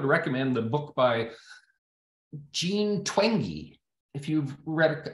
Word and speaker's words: Twenge: I would recommend the book by Jean Twenge. If you've read, I think that's how you pronounce her name. It's spelled like Twenge, T-W-E-N-G-E.